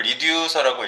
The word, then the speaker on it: Reducer: 우리가 뭘 하고 있는지 이거를 리우서라고 읽어요. 유즈 리서 전체적으로론 그렇게 읽어요. 리우서라고 하는데 요게 힌트고 리이 뭘까요?